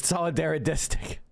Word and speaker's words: solidaristic: All of those lessons Solidarodistic is how you say that, Professor Wolf. Solidaridistic. It's very hard to say, I know, but that's it's not solidarity way. It's solidaristic are profound and